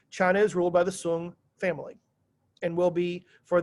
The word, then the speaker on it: Song: study guide it says s-o-n-g looks like song to us it's pronounced sung if you mispronounce it